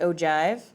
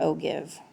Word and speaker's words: ogive: you okay it is it has a g in it not a j but it is pronounced o not o give ogive is a cumulative